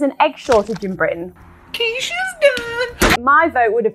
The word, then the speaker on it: quiche: Can I have a quickie? It's pronounced quiche.